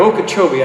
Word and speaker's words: Okeechobee: of the things we've had a hard time pronouncing is all the various names of these towns. I think I finally got Okeechobee.